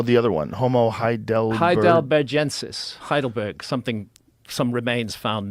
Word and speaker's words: heidelbergensis: Heidelbergensis, Heidelberg, something some remains found near Heidelberg in Germany.